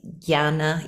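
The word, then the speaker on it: Jnana: the two yogas the the Gyan yoga or Yana yoga or Yan yoga depending on who's pronouncing it um and but I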